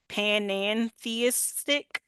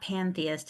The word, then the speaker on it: panentheist: Panentheistic. Oh, yes. Oh, now you've messed me up. It's it's not um, it's not pantheist, it's no, it's not. panentheist. Yeah, panentheist.